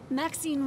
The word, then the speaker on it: Maxine: Maxine rhymes with queen, after all, and dearest, that is hardly a coincidence.